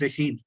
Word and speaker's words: Rashid: By the way, अगर if you're doing corrections, it's Rashid. I know it's spelled ID, और ये पता नहीं क्यों अब मेरे वालिदैन ने ऐसी स्पेलिंग रख दी, लेकिन प्रोनाउंस इसको रशीद कहते हैं.